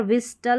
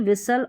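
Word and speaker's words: whistle: Paschen नहीं पासन यहां पर विस्टल नहीं विसल और हैस्टन नहीं हैसन यहां पर लिस्टन नहीं लिसन तो इस तरीके से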